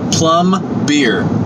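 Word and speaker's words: пломбир: Russian store called Columbia and plum beer is how you kind of pronounce it and it's amazing that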